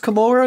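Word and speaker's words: Commorragh: is it pronounced Komorra now, or is it pronounced Komorra? I don't know. I always pronounced it Komorra, like Sodom and Gomorrah, so... that makes sense. I've always said Komorra, but I don't really care.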